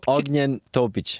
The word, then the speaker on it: Ognjen Topić: Ognjen Topić. Yeah, you say it. Topić, dude. Topić.